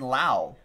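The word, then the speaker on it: Lowe: D with the raise not to be confused with the other raise player who spells his last name the same way but he says it's pronounced Brandon Lau Nate low just got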